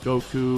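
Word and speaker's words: 悟: It's the kanji given to all who train under Master Roshi, so you see like Goku and Krillin wearing this all the time. Goku's kanji is actually pronounced go.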